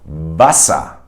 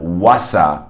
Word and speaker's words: Wasser: So in words like Wasser in German, where you see a W at the beginning of the word, you have to actually bite your lower lip with your upper teeth. So you go Wasser. It's not Wasser as you would say in English, right? You would say water. So that's not a V sound, it's a W sound.